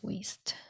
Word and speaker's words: Wiest: It's called The Mountain Is You by Brianna Wiest. Wiest? I think Wiest. Not West, it's Wiest.